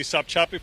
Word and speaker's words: Sopchoppy: Let's go to Gary Tuckman, and I'm not sure I'm saying this right, but Sopchoppy, Florida. Gary. John, you are saying it correctly, Sopchoppy, Florida.